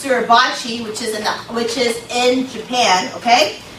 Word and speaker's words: Suribachi: Marines planting the American flag on top of Mount, I think it's pronounced Suribachi, which is in Japan.